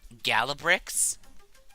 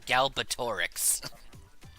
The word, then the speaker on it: Galbatorix: I used to call the evil guy in the Aragon books Galabrix, even though there was clearly a Tor shoved in the middle of his name, and it should be pronounced Galbatorix.